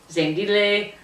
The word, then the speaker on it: Zandile: Today we are looking at a book called The Last Call, written by a South African author, Zandile KaMbokazi Zulu. It's Zandile.